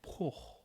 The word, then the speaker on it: porc: Bœuf and porc. The C is silent on pork.